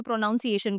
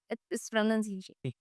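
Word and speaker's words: pronunciation: अब बहुत सारे लोग ना प्रोनंसिएशन को भी प्रोनाउंसिएशन बोलते हैं जो कि वापस गलत है। बिकॉज़ उसकी spelling he एन ओ यू एन होती है तो उसको एज इट इज वो लोग स्पेल कर देते हैं। बट इट इज़ इट्स प्रोनंसिएशन प्रोनाउंसिएशन नहीं अगेन प्रन प्रोनंसिएशन या इट्स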